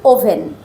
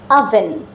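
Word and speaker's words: oven: দেখো ও ভি ই এন সাধারণত আমরা বলি ওভেন কিন্তু আইপিএস সিম্বল যদি তুমি বুঝতে পারো তখন ঠিকভাবে প্রোনাউন্স করতে পারবে তখন প্রোনাউন্সিয়েশনটা হবে আভেন আভেন আভেন ঠিক আছে একটা শিখলাম সান পরেরটা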